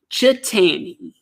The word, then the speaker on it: Cheetany: I hope I'm saying his name correctly chatan how's it going bud good man you pronounced it perfect that was okay wonderful that